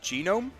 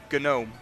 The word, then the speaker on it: Genome: For some reason, everyone seems to think that the race that Zidane is pronounced genome, after a Is it not? after a genome. Since I was a child, I've always called it a gnome.